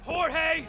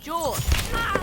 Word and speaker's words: Jorge: Last one up gets it, Jorge! My name's pronounced George.